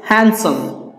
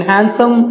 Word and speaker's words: handsome: the third one is handsome so in handsome remember that D is silent okay handsome he's handsome